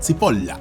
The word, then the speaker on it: Cipolla: llamado Carlo María Cipolla, que en italiano se pronuncia Cipolla.